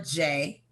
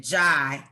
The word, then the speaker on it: Jai: does not mean we're related i am paula jay i pronounce it correctly it's sanskrit j poor from india it's means victory he pronounces it jai which is more of a french which means